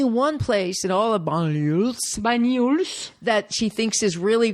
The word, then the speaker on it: Banyuls: And it turns out, so Banyuls. Banyuls. Don't think about how it's spelled. Just repeat. Banyuls. Banyuls. Yes, there you go. Banyuls. It's the spelling that's throwing you off.